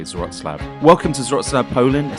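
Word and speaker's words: Wrocław: everywhere you might think this city is called Roa but it actually is pronounced rootlab at least I'm trying my best to say zlab welcome to zlab Poland a city bustling with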